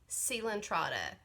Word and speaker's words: coelenterata: Who remembers coelenterata? Remember, this is that funny pronunciation, C-O-E-L, and we want to say like so well, but it's seal and trata.